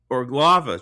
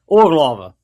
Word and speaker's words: Urglaawe: It is the Urglaawe tradition. Put the stress on the first syllable and you're close. Urglaawe. Urglaawe.